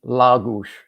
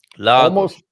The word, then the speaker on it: Lagos: So it's going to be la, gush, la gush. And it took me a long time to figure out that second part, that if the vowel is in the emphasized syllable, it's pronounced as if it has one of those little slanted accents over it.